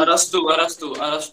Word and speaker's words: अरस्तु: देखिए अरस्तु, I think हाँ जब आप लिखते हो तो आप उसको एरिस्टोटल लिखते हो, बट उसका करेक्ट प्रोनाउंसिएशन अरस्तु होता है.